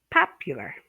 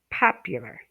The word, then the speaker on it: popular: Okay, popular, popular. Okay, you stress the first syllable.